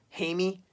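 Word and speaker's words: Jaime: spelled Jamie J I and II but it's pronounced hey me hey me Reynes is the sounds like anus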